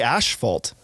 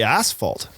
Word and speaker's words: asphalt: We say Canadians say ash fault. And Americans say asphalt.